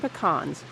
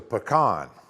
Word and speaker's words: pecan: the industry includes the new marketing slogan American pecans the original super nut those trying to recruit